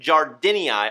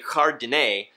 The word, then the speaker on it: jardinei: Catalophilia jardinii. I wanted to say jardinei, which is like some weird French-Spanish pronunciation, so I had to look it up.